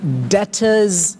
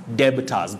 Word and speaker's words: debtors: find themselves saying debits debiters but that letter b is silent a silent letter is